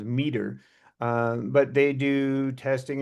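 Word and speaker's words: METR: Um, I I guess they pronounce themselves Meter.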